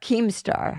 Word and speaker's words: Keemstar: of me okay okay gotta say it right keemstar yes that's correct i mean jesus christ all